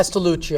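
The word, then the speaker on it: Castellucio: I don't know how to pronounce his last name. Castelluccio.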